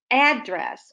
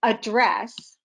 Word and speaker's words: address: So the word address, or let's say address, even though they sound the same, the accent can be different on the syllables. If you address someone, you're speaking to them. If address, that's the accent on the first syllable, it's a location, like your house address or a house address.